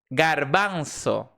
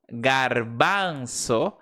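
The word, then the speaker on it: garbanzo: Então, por exemplo, eh, garbanço, garbanço, tem um som normalmente do G como G do português, porque realmente é uma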